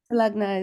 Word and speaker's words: Lagna: Lagna is perfect.